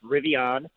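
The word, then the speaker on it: Rivian: City they're really on is it I say the rev on are one team on it phonetically correct is rivey on it's just a boutique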